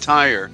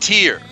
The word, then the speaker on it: Tyre: not correct pronounced correctly it's not tired it's pronounced tear because as you look